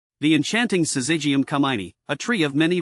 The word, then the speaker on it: Syzygium: But fear not, pronouncing it is easier than it seems. Here's a quick breakdown. Syzygium, Syzygium.